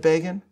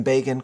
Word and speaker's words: Begin: As I described in this month's column and commentary, Time magazine helpfully informed its readership that the name Begin, quote, rhymes with Fagin.